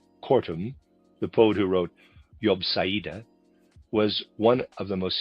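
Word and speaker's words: Jobsiade: Cortum, the poet who wrote Yobeda, was one of the most significant alchemists of the 18th century. Readers aside, Yubsa is spelled J O B S I A D E.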